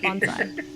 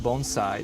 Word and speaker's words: bonsai: Can you tell me a little about Bonsai? Sure. Um, actually the first thing is it's pronounced bonesai, not bonsai.